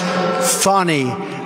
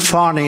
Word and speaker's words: Fani: It's actually pronounced Fanny. It's F-A-N-I, but you pronounce it Fanny, a little French accent there. Fanny.